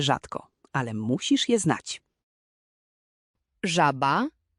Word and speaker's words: żaba: Je jak angielskie ZH w słowie measure. Żaba. Żaba.